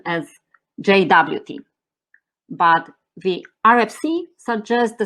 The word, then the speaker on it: JWT: however in today's talk i will pronounce pronounce it as jwt why because i'm not sure whether i pronounce jot clearly enough plus from my experience majority of developers are used to jwt pronunciation so json web token